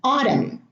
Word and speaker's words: autumn: Now, the N here is silent in all of those words, and in the first 6 words, the N is preceded by an M: autumn, column, condemn, dam, solemn, hymn. Here in government, government has